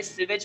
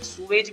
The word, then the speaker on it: sewage: आज हम पढ़ने वाले सीवेज प्रॉब्लम्स और सीवेज के बारे में। कई लोग सूवेज भी बोलते हैं और ब्रिटिश इंग्लिश में इसका प्रोनाउंसिएशन होता है सीवेज।